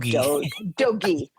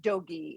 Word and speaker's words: DOGE: and Doge from I I like calling it Dogy instead of Doge Dog. We sued because, you know, it's a hard G. So, let's call it Doggy instead of Doge.